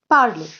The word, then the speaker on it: parle: Now, I would like to tell you that when we add E or S or ES and ENT, all four of them are silent.